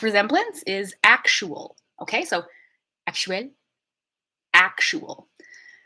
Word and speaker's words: actuel: I want you to pay attention to how the biggest difference is in syllable stress. English always has one obvious place for syllable stress in multisyllabic words, and French is more like even, okay?